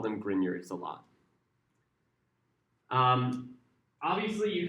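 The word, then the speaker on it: Grignard: These are called griyards spelled grape nard pronounced grineard.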